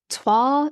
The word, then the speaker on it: toile: all the time, but it's toile, Toile. Do you know what I'm talking about? It's like the French inspired print.